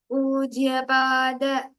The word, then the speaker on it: पूज्य पाद: दत्तमोदते नमः शिवाय सेवक when you pronounce puja, let it not be plain. Pujya pada, not the pronunciation. It's pujya pada, right? So give a stress before that, and even before prasida the same way in the first line.